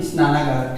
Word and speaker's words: स्नानागार: तो यहां पर क्या हो जाएगा, जैसे देखिए स्नानागार, तो स्नाना नहीं स्नानागार, ठीक है, स्नानागार, स्नानागार, ठीक है, इसका उच्चारण ठीक से करिएगा, स्नानागार।